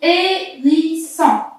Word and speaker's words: hérisson: Alors, pareil, H muet, on dit hérisson.